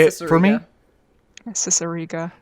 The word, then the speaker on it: Cicerega: have an amazing When I say words like how is it actually pronounced? Say it for me. Cicerega. Cicerega.